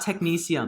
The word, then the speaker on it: technetium: We've got technetium. Ooh, technetium is an element. It's the... That's how you pronounce it?